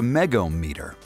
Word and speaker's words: megohmmeter: Connect a megohmmeter*, set to one-thousand volts, to one of the heating cable power leads and the ground braid.